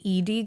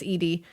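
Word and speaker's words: Ede: Now, the next one I'm going to talk about is I think it's pronounced the Edie girl. Okay. I looked at several pronunciations for this. I believe it's Edie.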